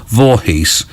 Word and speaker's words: Voorhees: mispronouncing on the radio, and they do just pronounce it Vorhees, uh which is how it's spelled, but that's rather disappointing.